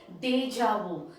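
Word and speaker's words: déjà vu: it says deja vu the word there is deja vu in that is the word you know spelling but then the pronunciation is deja vu now what is deja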